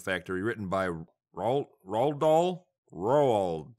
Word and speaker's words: Roald: written by Roald Dahl Roald Dahl row all rolled let me look it up uh looks like rural Dahl seems to be the proper way to say it he basically has a